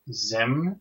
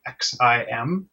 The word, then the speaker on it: Xim: the week is and I'm guessing it's pronounced Zim it's actually xim um it's an app